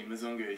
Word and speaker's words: Mzungu: Yeah, he's had a tough time with Big Brizer, but yeah, it's actually Mzungu, so you can maybe pass that on to him.